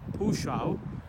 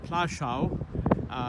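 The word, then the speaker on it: Płaszów: about this Camp here which is pronounced as far as I know as pushao or plashau that's the Polish word this cap is a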